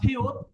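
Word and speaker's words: 티읕: ওকে, তারপরে আমাদের আছে এখানে থিউত। থিউতের উচ্চারণ একটা, উপরে থাকলে ত, থ, থ। থিউতের উচ্চারণ হবে থ, আর এটা নিচে যদি বসে তার এই উচ্চারণ ত, নিচে বসলে উচ্চারণ হবে ত।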